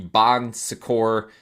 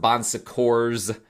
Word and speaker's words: Bon Secours: Some people pronounce it Bon Secours with an S at the end, because it does have actually an S at the end, but it's a French word. I think the S is silent.